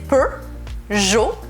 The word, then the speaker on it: Peugeot: Entonces, por eso es Peugeot. No pronunciamos la T al final de la palabra. Así que Peugeot es al final Peugeot.